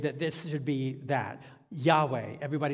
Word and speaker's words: Yahweh: uh this name because in the ancient Hebrew text you have no vowels uh just consonant and so we really don't know nobody knows for sure how to actually pronounce this name 99% of Scholars think it's this Yahweh Yahweh we're not sure if